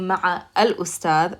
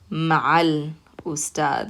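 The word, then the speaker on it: مع الأستاذ: So instead of saying ma'a al-ustad, we're going to say ma'al ustad.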